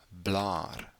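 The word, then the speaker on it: blaar: which in a is blah blah long a sound there double A is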